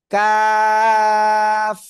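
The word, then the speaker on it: ق: বাড়িয়া তারপর আবার উপরে তালুর সাথে লাগিয়া চিকুন উচ্চারণ করতে হবে চার আলিফটা নিয়া কাফ কাফ সবাই জোরে জোরে পড়েন জোরে জোরে পড়েন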